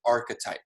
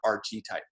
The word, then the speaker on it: archetype: First of all, it is pronounced archetype, not archetype or archetype.